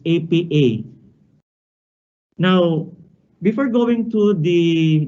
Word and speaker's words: APA: writing styles and formats this is not pronounced as appa but it's apa now before going to